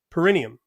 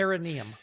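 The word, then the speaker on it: perineum: As I said, you can press up on the perennium. Am I pronouncing it correct? No. Okay. Paranneeium.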